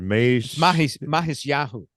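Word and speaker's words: Matisyahu: Yeah, I have heard of him, but you know, how do you pronounce that? Mahisyahu.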